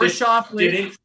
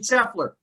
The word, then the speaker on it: Scheffler: Nobody picked Or Shoffley. What about? No, I picked Shoffley. No. Scotty, I mean Scheffler.